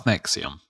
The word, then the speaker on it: NXIVM: Oh, it's Nexium. But they spell it really annoying, don't they? So start, yeah, with an X and the NXIVM.